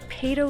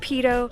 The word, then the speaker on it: Peyto: I used to think it was called Payto Lake, but apparently it's pronounced Peyto.